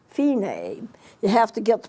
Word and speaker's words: Fine: F I and E like fine but it's pronounced fee name you have to get the pronounce you pronunciation